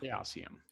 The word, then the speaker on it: Chaosium: in the 90s and i'm gonna go with how they pronounce it which is calcium it was chaosium yeah